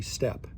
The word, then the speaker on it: steppe: There are a few terrain types that are peculiar to the Russian, do you say steppe or steep? I'm going to use the Texan pronunciation and say steppe.